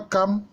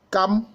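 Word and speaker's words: Cham: Mais il faut dire que concernant Cam, en français, cela s'écrit avec C-H-A-M. C-H-A-M. Mais en réalité, ça se lit Cam.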